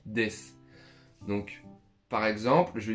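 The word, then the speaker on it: です: Quand on fait une phrase en japonais, la plupart du temps, on termine sa phrase par des qui s'écrit d'ailleurs des sous mais ça se dit des.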